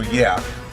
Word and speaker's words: YEA: look all right so yeah but it's not spelled like yeah it's spelled y e